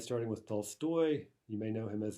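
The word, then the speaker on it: Толстой: is fat in russian the modern russian for fat is Tolstoy so you see there's a difference in the stress but that was the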